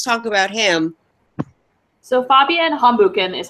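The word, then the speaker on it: Hambüchen: BF Lee let's talk about him so Fabien hum bukan is how you say his last name thank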